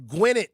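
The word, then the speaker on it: Gwinnett: What rhymes with win it and in it? The town of Gwynet, Georgia. You got to be in it to win it like Gwynet.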